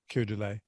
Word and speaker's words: Keir Dullea: Keir Dullea.